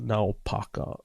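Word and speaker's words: Naupaka: I I think it's I always even as a kid I would always say it wrong but I'm pretty sure it's n Paka uh now Paka yeah now Paka okay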